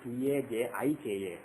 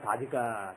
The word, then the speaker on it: Tajika: Raman, and some people spell it as T-A-J-I-K-A, Tajika.